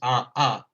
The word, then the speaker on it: Haha: of metaphysics, the haha, which should be pronounced ah ah, and is is more it's not so much a laugh.